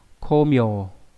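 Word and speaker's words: 功名: Và trong trường hợp đặc biệt ví dụ trong từ công danh đọc là mieu. Đây ví dụ nhá, đây là chữ công và chữ danh này đọc là ko. Komieu.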